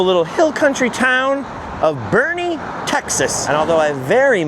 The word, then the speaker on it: Boerne: Some amazingly beautiful buildings here in downtown Bernie spelled like this by the way and seemingly full of statues.